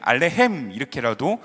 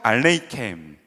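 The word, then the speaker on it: עליכם: 헤베누 샬롬 알레켐, 알레헴 이렇게도 발음을 하고 있는데, 헤베누 샬롬 알레이켐, 따라해 봅시다.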